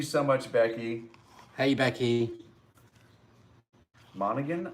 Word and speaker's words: Monaghan: much becky hey becky monaghan i think is how you pronounce her last name becky monegan was it monahan um well it's m-o-n-a-g-h oh yeah monegan yes i would need to